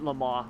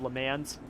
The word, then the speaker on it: Le Mans: it wrong 24 hours i used to call it the 24 hours of le mans people used to get so mad at me they're like it's le mans i'm like i don't